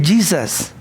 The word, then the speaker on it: Jesus: En inglés ustedes lo conocen, se escribe Jesús, pero se dice Jesus, ¿cierto?